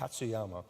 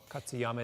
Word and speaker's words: Katsuyama: whatever his name last name how do you pronounce his last name katsuyama katsuyama in this book even Maury Taylor they all